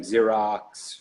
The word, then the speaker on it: Xerox: you have companies like Xerox where their company names are multi-billion dollar company and they're they built a good brand for themselves in their company starts with an X when they pronounce it Z I think they're probably